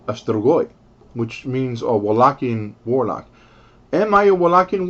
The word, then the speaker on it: Wallachian: But Wallachian, by the way, with V, that's how we pronounce it.